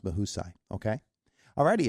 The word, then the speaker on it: Mahusay: m a u s a y and it's pronounced mahai okay all righty it's Indiana in the morning